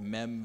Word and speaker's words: Meme: in the water there's a village called meem Village it's spelled like meme it to me forever not to call it meme Village but it it's it's